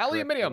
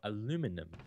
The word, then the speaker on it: aluminium: You know, as long as you pronounce it aluminium. Correctly, like, exactly. Yeah, as long as you which, Tim, what is it exactly? It is the correct pronunciation of aluminum, which aluminum is an acceptable alternate.